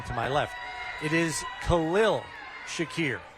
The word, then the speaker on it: Khalil: a public service announcement for the proper pronunciation of this man's first name to my left it is Khalil Shakir not Khalil so make a note of it Bills fans